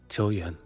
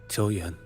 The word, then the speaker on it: Qiuyuan: Qiuyuan. Qiuyuan. It feels like a t, not a ch.